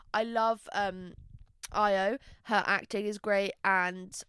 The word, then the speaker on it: Io: I always go to say Ao, but it wouldn't be Ao, would it? I love Io.